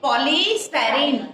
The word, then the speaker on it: polystyrene: Pronounce it polystyrene. POLY. Poly. STYRENE. Polystyrene. Again, repeat it.